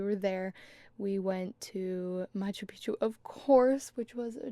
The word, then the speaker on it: Machu Picchu: There's clearly an extra C in there. I always just thought it was silent, but all of the locals pronounce it Machu Picchu.